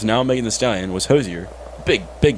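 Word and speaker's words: Hozier: Hosier was there too Hosier is that how you say it Hosier yep y i remember we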